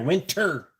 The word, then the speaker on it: winter: And I got I got to put the T in there. Winter. Fuck, even I hear it when I say it. Win- winner. Winner. Winner tires. God damn it. I'm not from the south. Pronounce Pronunciate your fucking letters.